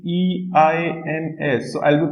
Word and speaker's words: eins: So this is one thing I want to tell you that, okay, whenever E and I are together, the pronunciation is same as that of letter I.